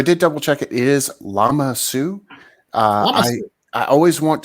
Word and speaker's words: Lama Su: yeah so I did double check it is llama Sue uh I I always want to mispronounce it and say uh limasu that's not right llama it is nice it's